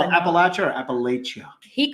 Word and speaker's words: Appalachia: He did a video on Appalachia and strange happenings and strange occurrences. Did he call it Appalachia or Appalachia?